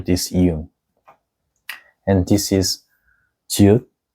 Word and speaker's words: 지읒: And this is 지읒, which sounds like J sounds, like 줄 and 잘.